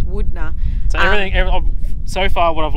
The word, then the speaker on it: Wudinna: staying at the moment is a place called Wudinna. I brought out this little book to show you how it's actually spelled. Because before we got here, we were saying Wudinna. Wudinna. Wudinna, but it's Wudinna.